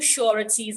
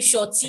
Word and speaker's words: sureties: ordered him to provide two sureties and like some in nigeria they would say shorty it's not sure it's purity it's sure